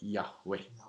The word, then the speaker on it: Yahweh: Jehovah CH you know we got the word Jehovah from the early what I call enunciation of Hebrew because uh then later on they began to get the more accurate pronunciation that's how you get Yahweh yeah so original was J Jehovah but there's no J sound the original and uh just like